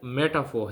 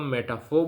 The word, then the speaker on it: metaphor: जो हमारा है वो मेटाफोर है ब्रिटिश इंग्लिश में इसको हम मेटाफोर बोलते हैं मेटाफोर इसमें आर साइलेंट है अ अमेरिकन में इस इसको हम मेटा मे मेटाफर कहते हैं ठीक है तो मेटाफर